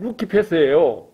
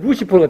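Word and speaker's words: Lucifer: 그걸 라틴어로 읽으면 루키페스예요. 그런데 영어로 읽으면 루시퍼가 되는 거예요.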